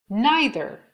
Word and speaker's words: neither: Neither یا neither هر دو تلفظ درسته.